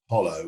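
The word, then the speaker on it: Jolo: is an island the spell jollo but actually pronounced hollow which was able to save stronghold um and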